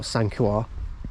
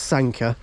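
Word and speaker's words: Sanquhar: now and when Sanka which is pronounced Sanka by the way not sanua it pronounced Sanka um so Sanka and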